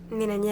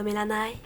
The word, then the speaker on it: Mélanie: Mélanie avec un Y, ça se prononce pas Mélanaï. Bon, excusez-moi, là, on vient juste de me prévenir que vous seriez ici aujourd'hui.